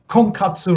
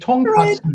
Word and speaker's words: tonkatsu: And I made a mistake in the pronunciation. I say, uh, okay, we have I go miso ramen, shiyu ramen, to uh, konkatsu ramen, but it's a it's actually should be Right. tonkatsu ramen.